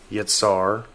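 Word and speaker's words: יצר: to be in trouble phonetically yatsar is ya and SAR the word ya has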